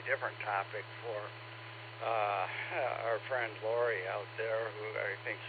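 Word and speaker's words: Laurie: Secondly, according to QRZ, Lori is spelled L-A-U-R-I-E. Yeah, so that would be Lori.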